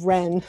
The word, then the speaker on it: Wren: all changing her name she becomes ren with a silent w and by immersing herself